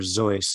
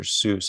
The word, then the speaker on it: Seuss: I think he might be called Dr. Zeus, not Dr. Seuss as we pronounce it.